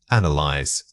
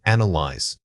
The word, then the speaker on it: analyze: The word is analyze. Say it again, analyze. This word is often mispronounced with too many syllables or a misplaced stress.